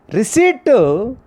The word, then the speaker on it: receipt: Receipt, P is a silent letter.